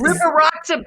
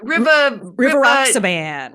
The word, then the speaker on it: Rivaroxaban: know how to pronounce it sounds like River Rocks. Oh, River yeah. Rocks. enoxaparin? No, it's Rivaroxaban. Rivaroxaban. Rivaroxaban.